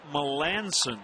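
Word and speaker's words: Melancon: it's not a misprint it's Mark malanson that's how you say it sof C ahead of the O which is a little odd but it works as Jeff Baker Taps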